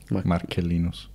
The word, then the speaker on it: Marcellinus: So this letter begins, Lucilius has apparently been asking about their mutual friend, Marcellinus? Well, if it's classical pronunciation, it's K. Marcellinus.